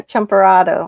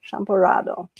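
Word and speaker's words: champurrado: Champurado. I couldn't remember the name. Champ shampurado. Champurado. Yeah, because your pronunciation is different than the Cuban Spanish pronunciations of things.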